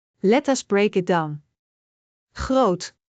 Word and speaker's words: groot: Is a long o sound. Like in groot which means big. Let us break it down. Groot. Groot.